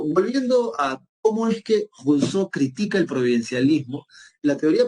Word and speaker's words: Rousseau: Y la última, que es la más chévere, porque el tipo lo va a razonar bien, se llama Jacques Rousseau, ¿verdad? O Rousseau, si quieres pronunciarlo en castellano, ¿no?